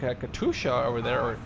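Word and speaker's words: Katyusha: anything there's like a Katusha over there as they say cut yousa right a Polish way of pronouncing it oh he's blocked peered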